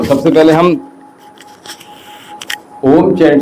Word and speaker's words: ॐ: तो हमने 31 में इस ओम को प्रोनाउंस करना होता है ओ 3 और म एक ठीक है? और दोनों का साउंड हमें आना है।